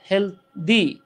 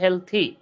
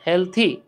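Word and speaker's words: healthy: যেমন যদি কোনো ওয়ার্ডের শেষে টি এইচ ওয়াই থাকে, যেমন আমরা অনেকে একটা শব্দ উচ্চারণ ভুল করি, আমরা বলি হেলদি, আসলে উচ্চারণটা হচ্ছে হেলথি, ঠিক আছে, হেলথি।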